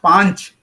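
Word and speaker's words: पाँच: See, in Hindi, how is Pach pronounced? Panch. It is Panch.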